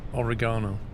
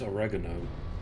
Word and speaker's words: oregano: shut up Tom Alex how do you say origano I would say it as oregano ah you'd say American then I know but I